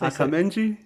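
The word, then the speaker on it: Akanji: say there's not an episode where you don't mispronounce a player name yeah that's how you say that's akenji yeah right akenji aangi yeah Aji Aji who's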